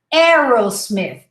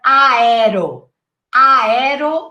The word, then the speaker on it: Aerosmith: wrong way would be aerosmith instead of aido ayero we simply say arrow it's like forget the spelling forget the a just say arrow very simple so aaron